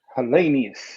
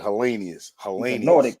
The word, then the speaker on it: Helenius: his knockout wood helenius how you pronounce my man's name always helenius helenius that's right helenius he's a nordicate you